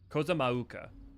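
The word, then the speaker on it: Kozama'uka: Kozamauka is how you say it.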